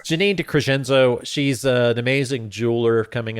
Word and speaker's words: DeCresenzo: I think it's pronounced Garofalo. Right. I'm just kidding. It's Janine DeCresenzo.